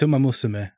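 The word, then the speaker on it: Umamusume: Or how it was consistently mispronounced during the awards. Umamusubme? Umamusubme. It's Umamusubme, but yeah, people just pronounce it wrong.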